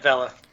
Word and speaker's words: Vela: All right, so it is Vela, right? I heard you pronounce it, and I thought that's what you said. Yep, Vela.